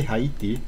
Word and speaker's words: Haiti: I say Haiti. I remember having big discussions in America about that. Honestly, Haiti is the French pronunciation, since they speak French there. I think I feel right saying it this way.